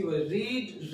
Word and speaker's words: read: और third form इसकी रीड, रेड, इसका आपने ध्यान रखना। अगर रेड बोला जा रहा है तो कलर नेम नहीं होगा, वहां पे प्रोनाउंसिएशन रीड का रेड रहेगा।